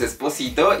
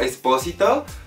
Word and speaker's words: Espósito: lo pronuncio mal, pero para mí es Esposito y ustedes me dicen que es como Espósito.